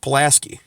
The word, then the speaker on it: Pulaski: Paul and you ask things a lot it's pronounced Pulaski we have a street here named Pulaski whatever